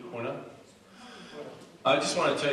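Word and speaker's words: Honea: But, Honing? Did I say it right? The sheriff? Honing. What? Honing? H-O-N-E-A. E-A. Hona?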